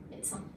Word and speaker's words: médecin: Un exemple que j'utilise souvent, mais de sein. C'est facile, c'est 3 syllabes. Mais de sein. Et ben dites-le vite à l'intérieur d'une phrase et vous verrez que le D devient T. Médecin.